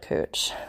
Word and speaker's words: Couch: is denny over here cooch fifth and cooch whatever uh that's a real street it's it's spelled like couch but they get mad if you don't call it cooch so they also take